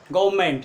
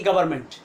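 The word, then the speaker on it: government: और यहाँ पर हम किसका उच्चारण नहीं करेंगे, आर का, इसका उच्चारण क्या हो जाएगा, गवर्नमेंट, ना कि गवर्नमेंट।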